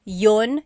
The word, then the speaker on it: yun: You might hear me saying yun yun as if there's no I and that's commonly how it's pronounced. You might hear people say but usually the letter I sound is dropped.